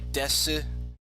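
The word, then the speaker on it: です: Also note that the U is silent on this. I think some dialects might pronounce the U and say des, but you'll often hear just.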